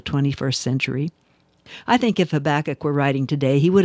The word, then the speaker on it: Habakkuk: Okay, actually his name should probably be pronounced Habakkuk, but since I grew up calling him Habakkuk, you're stuck with my pronunciation.